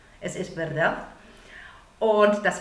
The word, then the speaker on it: verdad: Aussprachemäßig ist es ein bisschen schwieriger für uns. Es ist ein Wort, was auf D endet. Also wir deutschsprachige Muttersprachler neigen dazu, ein T zu sagen. Sag bitte nicht verdad.